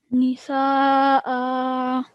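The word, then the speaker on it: نساء: And it says that whenever Hamza has a fathatain on it, that fathatain will become a vertical fatha. So now the pronunciation will be Nisa'a. Nisa'a.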